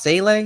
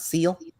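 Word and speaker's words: Seele: That's what it's pronounced, Sele, not seal.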